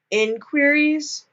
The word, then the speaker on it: InQueeries: So, if you want to hear more about Kenneth Zeller, I would recommend going to the Creepy InQueeries podcast. That's spelled like I-N and then queer-ease.